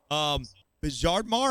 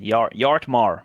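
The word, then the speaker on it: Bjartmar: Drop the B, man. Yartmar. Yartmar. Okay, gotcha, man.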